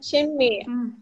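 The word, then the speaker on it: 什么: Jadi untuk kata apa kita bacanya shenme, bukan shen.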